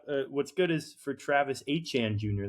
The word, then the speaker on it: Etienne: He got what's good is for Travis Achan Jr. That's how they pronounce his name now. Travis Achan. I didn't know that. That's a Creole pronunciation.